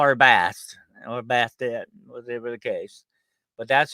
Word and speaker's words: Bastet: That's Bast, or Bastet, as some people. There's still a contention to this day beyond between Egyptologists what her true name is, but I like to call it Bastet. It looks more like that the way it's spelled, but that's me being a Southern boy.